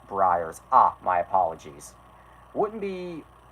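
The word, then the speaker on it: Breyers: horses I don't know of a brayer's ice cream are we really playing name the brand right now what it's pronounced Briar ah my apologies wouldn't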